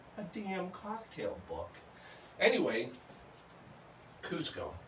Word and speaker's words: Cusco: Quechua had no Z, so that never would have been Cusco because they didn't have Z in the language.